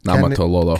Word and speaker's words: Niumatalolo: Niumatalolo.